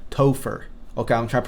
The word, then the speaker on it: Topher: Topher. I can't believe I actually look up a way to pronounce that name. Topher.